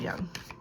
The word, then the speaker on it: Jung: Just go check out Carl Jung.